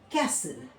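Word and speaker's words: castle: for example देखिए बसल इसको बस्टल नहीं बोलेंगे बसल बसल ठीक ऐसे ही देखिए कैसल ठीक है कैसल यहां पे क्या है जो टी है वो साइलेंट है एक एक ब्रांड है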